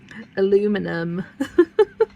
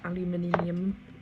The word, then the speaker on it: aluminium: I I actually kind of prefer the way Americans pronounce that because I struggled to say the word alum aluminium. Aluminium. So aluminum is much much easier.